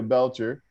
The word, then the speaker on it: Belcher: least we have belcher am i pronouncing your last name correct yes yes belcher just like because i did not